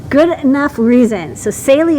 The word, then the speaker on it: Saleae: good enough reason so celie is how you say it uh and everyone knows